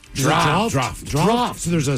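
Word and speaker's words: draught: English to refer to draft beer. Uh drought. Very good. Drought. D R A U G Ht. Why is that hard to say? Drought. Actually, no, it's draft. Draft.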